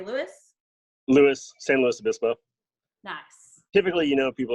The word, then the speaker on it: San Luis Obispo: Louis, San Luis Obispo.